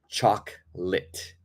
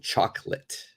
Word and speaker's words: chocolate: Chocolate. Okay, so we've got a silent O, and the A, it changes more into an I.